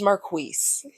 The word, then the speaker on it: Marquise: It's like you pronounce my name with like a KW sound. Yeah. Like, it just doesn't have a U. So most people, when they see it, they think it's just Keese because that's the way it actually is spelled. Mm-hmm. But thank you, Tyra Cleveland. It is Marquise.